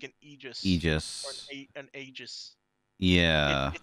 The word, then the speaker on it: Aegis: slash agent ages slash i say aegis because i'm pretty sure you say aegis you because the a is silent i'm pretty sure i could be wrong it is i'm pretty sure it's a greek word right like saying like